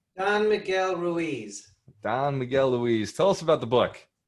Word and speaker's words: Ruiz: How do you pronounce his last name, Mike? Don Miguel Ruiz. Don Miguel Ruiz.